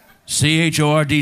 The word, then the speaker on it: chord: C-H-O-R-D sounds like chord? Yeah, that's right. The H is silent. Don't pronounce it.